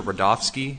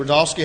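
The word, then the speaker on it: Rudofski: record special agent rodofsky that's r-u-d-o-f-s-k-i and it's pronounced Rudolph and then ski special agent rodolski how you doing today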